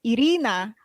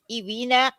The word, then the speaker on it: Irina: too that's the thing when i used to say my name is irina people are like ivina ivina e-e-e-e-e-e-e-e-e-v urine i